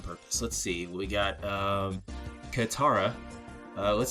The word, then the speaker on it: Katara: Katara? Katara.